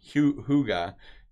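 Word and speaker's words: hygge: is hyg GE and I and it is pronounced here you Booga hy gge Hyuga and it is a word that translates into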